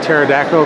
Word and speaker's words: pterodactyl: So, do you know why you can't hear a pterodactyl go to the bathroom? Because the P is silent.